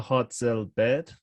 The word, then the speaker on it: Hartzell-Baird: Her name is Una Hartzell-Baird.